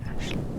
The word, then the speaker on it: Aisling: It's spelled like it sounds like Aisling, but I'm guessing you're Irish, so it's Ashley.